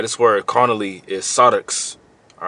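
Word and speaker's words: σάρξ: All right, this word carnally is sarx. All right, that's how you pronounce it in the Greek.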